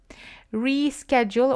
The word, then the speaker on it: reschedule: Reschedule or reschedule. You can have both pronunciations here.